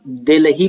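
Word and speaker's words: Delhi: दिल्ली पढ़ा करते हैं, दिल्ली जैसा लिखा है दिल्ली, तो इसको दिल्ली मत पढ़ा करिए, उसको एच को है तो साइलेंट करिए, दिल्ली पढ़िए या दिल्ली ऐसे बोलिए, ठीक है। दिल्ली ऐसा प्रोनाउंसिएशन मत करिए, दिल्ली दिल्ली ऐसे नहीं बोलते।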